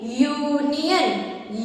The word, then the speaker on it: union: So here you can pronounce the word union. Say union, ya. Union starts with ya, and ya is a consonant sound of U.